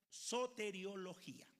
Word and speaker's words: soteriología: Hay una palabra en el mundo de los estudiosos de la teología que se pronuncia soteriología.